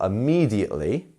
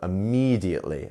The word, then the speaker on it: immediately: as it ended um so yep our second um our second syllable here is our stress syllable immediately and we also have our two dots here which signify a lengthened vowel sound so immediately immediately um and you'll notice how